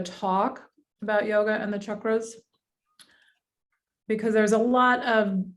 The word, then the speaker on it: chakra: and out of pronunciations the sanskrit pronunciation is more like chakra so it's a u sound instead of an a sound for the chakras anyway